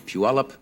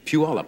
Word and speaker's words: Puyallup: If you are looking at these lovely flowers, I think these are sent, as they are every year, by the Puyallup Daffodil Festival in Puyallup, Washington.